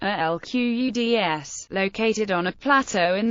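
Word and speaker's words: القدس: Jerusalem, Arabic, Al-Quds, pronounced Al-Quds, located on a plateau in the Judean mountains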